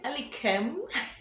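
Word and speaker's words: Elikem: ghana and so he gave me the correct pronunciation for name so i'm going ali khem so yes so um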